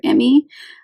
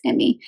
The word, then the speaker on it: Emi: It's not super long, but it basically follows our main character, Emmy. I think is how you pronounce it. It's EMI.